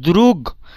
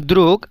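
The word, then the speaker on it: друг: এখানে দেখেন দ্রুক, আসলে উচ্চারণটা দ্রুগ মানে গ, লাস্টে যে গে আছে এটার উচ্চারণ গ এর মতো হওয়ার দরকার ছিল, দ্রুগ। বাট দ্রুগ না হয়ে দ্রুক হলো।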